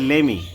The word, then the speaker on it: lemme: অনেকেই দেখবেন এটাকে বলে লেমমি, আসলে লেমমি হচ্ছে ভুল প্রোনাউন্সিয়েশন, এটা হবে লেমি।